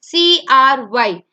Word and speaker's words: cry: For example, CRY. It does not have a vowel, it is short, and hence we pronounce the Y as I.